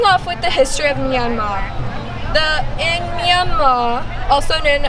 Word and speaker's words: Myanmar: Um the way you pronounce Myanmar there's no Rs. So it's Myanmar.